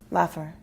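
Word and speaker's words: Lapher: what's your last name laffer that's spelled p-h-e-r that's not laugher that's just you need the l-a l-a-p-h-e-r you said it was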